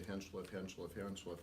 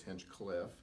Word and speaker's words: Hinchliff: been dropping out the Hinchliff name because half the community mispronounces the name and refers to it as Hinchcliffe. And if you look closely, there is not an extra C in there.